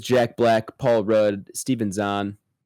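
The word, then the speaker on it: Zahn: Uh the cast includes Jack Black, Paul Rudd, Steven Zhan. Is it Zan or Zhan? I think it's Zayn technically.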